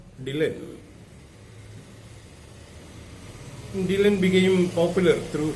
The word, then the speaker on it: Dylan: was not happy because the word was pronounced like Dullan, and the people might regard him as a dull person. And Dylan wanted his name to be pronounced as Dylan.